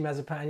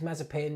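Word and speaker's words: Mazepin: uh oh yeah sorry did i say to meet you mazapan yeah uh i meant nikita sorry um yeah not mazapanis mazapin yeah okay sorry uh pronounced it wrong um okay let's see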